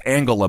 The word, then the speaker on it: Angela: Merkel Angela Merkel that's it's Angela by the way it is it's a heart which it's German come on you're one of them I know doesn't mean we can have a soft G here every now and again Angela Merkel he said